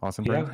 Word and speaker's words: Ossenbrink: Ossenbrink.